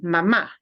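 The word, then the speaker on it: mamá: mama is a verb so when you really mean mom you need to punch the ah at the end mama because otherwise it sounds like the verb that means a little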